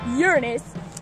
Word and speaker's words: Uranus: and huge rings mysterious Uranus yes kids it's pronounced Uranus is 2 billion eight hundred seventy three million